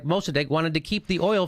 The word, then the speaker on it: Mossadegh: First democracy, and Mossadegh is how you say it.